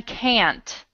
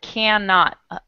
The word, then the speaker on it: can't: And then can't. Try that one. Can't. Good, because when you said it, you said cannot. You separated it a little bit.